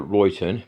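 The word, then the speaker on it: Ryton: on a place called I call Reon but it's spelled r y t n so I like written but there's no o but I I call it Reon so r y t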